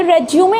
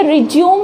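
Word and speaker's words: résumé: तो देखिए, कई बार हम इसे रिज्यूम समझ लेते हैं। देखिए, ये रिज्यूम नहीं होता, ये होता है रेज्यूमे। रेज्यूमे इसकी प्रोनाउंसिएशन होती है।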